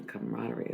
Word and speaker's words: camaraderie: So I'm enjoying the camaraderie of things. I've been spelling that word totally wrong. I spell it like comrade, kind of, and it's not that at all.